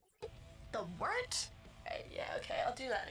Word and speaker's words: wort: Hey, moron, it's pronounced the Wort. What the hell is a wort? Pronounced the Wort. What is it? The Wort? Yeah, okay, I'll do that again. This is The Wort on Govs Radio. It is the Wort, not warts, not forts, not short, the Wort.